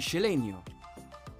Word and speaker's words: Xeleño: de la S final, la pronunciación de la X como SH. Por ejemplo, la ciudad guatemalteca y su gentilicio, Cela y Celeño, se pronunciaría como Xela y Xeleño.